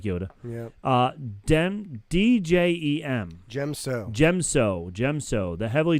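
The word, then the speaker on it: Djem So: by characters like like Yoda uh Den d-j-e-m gem so gem so gemso the heavily dominant fighting style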